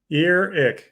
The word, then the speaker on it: Earic: What is the correct way to pronounce this? Earic, like Earic.